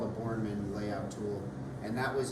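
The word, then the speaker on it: Bourneman: Sorry, could you spell it again? Are you saying? B-O-U-R, yeah, like Jason Bourne, the superhero. N-E-M-A-N, Bornman layout.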